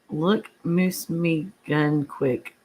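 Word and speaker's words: Mooselookmeguntic: We have a lake here in Maine, and it's pronounced Look Moose Me Gun Quick.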